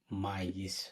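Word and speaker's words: maïs: এখানে যদি থেমা না থাকতো সেটা হয়ে যেত মে, মে মানে হচ্ছে কিন্তু, এখানে মাইস হবে, থেমা থাকার কারণে উচ্চারণ হবে মাইস।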